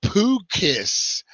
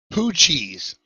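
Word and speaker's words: Poo-Chi: Who remembers the poo kiss? The poochies. I said it wrong.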